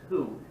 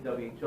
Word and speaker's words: WHO: The other big organization that you definitely need to know is, it looks weird, but it's WHO, the World Health Organization. Okay? They don't pronounce it as WHO. They say WHO, or World Health Organization.